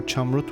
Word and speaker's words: Chamrut: Well, I wasn't sure if it should be Chamrut or Chamrut with a Y instead of U, but turns out in English Y pronounces differently than I assume, so Chamrut it is.